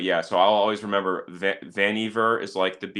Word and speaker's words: Vannevar: Yeah, I'll tell you, I looked it up one time and they said that it rhymes with beaver, Oh God, so it's Vanever. Vannevar. Vanever. Yeah, like leave it to Beaver maneuver.